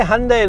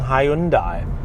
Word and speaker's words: Hyundai: do you pronounce hyundai they say hyundai like sunday but it just doesn't feel right i like saying hyundai but that's probably completely wrong isn't it anyway doesn't matter because